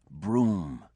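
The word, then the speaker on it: Brougham: he spelled pronounced broom and he's got some money I think.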